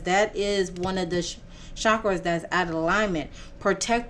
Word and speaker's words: chakras: into alignment with her chakras uh as or chakras for the correct pronunciation is asking her to